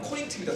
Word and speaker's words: 코린트: 코린트, 그러니까 우리나라, 그러니까 영어식으로 발음하면 코린트입니다. 코린트.